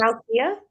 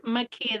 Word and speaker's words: Makia: Is it Malkia? it's Makia. The L is silent.